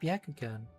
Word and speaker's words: Byakugan: It's pronounced Byakugan. That's what I said, the Byakugan.